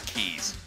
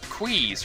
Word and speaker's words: Quays: It's keys. Keys? Keys? No, keys. Yeah, keys. Like in you have your key ring. A ring of keys.